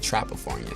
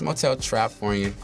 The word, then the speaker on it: Motel Trapfornia: Motel Trapfornia, because you said Trapafornia. So some people do that. It's Motel Trapfornia. It's all one word.